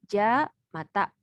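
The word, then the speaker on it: じゃまた: Yang pertama ini dibacanya ja mata.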